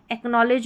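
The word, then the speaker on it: acknowledge: इसलिए मैंने यहां पर साथ ही में बता दी कि नॉलेज और एकनॉलेज में डी साइलेंट रहता है।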